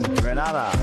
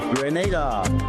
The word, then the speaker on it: Grenada: So today, like we German say, we are in Granada. But I heard terms and condition. Grenada.